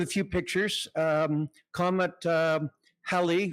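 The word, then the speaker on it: Halley: few pictures um Comet U hel rhymes with Sally um in 1910 there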